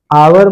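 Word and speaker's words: hour: उसी प्रकार आवर में भले ही एस से शुरू हुआ, लेकिन कहां से पढ़ते हैं हम लोग प्रोनाउंसिएशन आ से, इसीलिए यहां पर क्या हो जाएगा, एन आवर।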